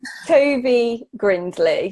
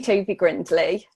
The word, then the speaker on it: Tovey-Grindlay: let me just say your entire name, Katie Tovey-Grindlay. Am I saying that okay? Yeah. Almost. Tell me, how do I pronounce it properly? I'm so bad at pronunciation. It's names. Tovey-Grindlay. So Katie Tovey-Grindlay.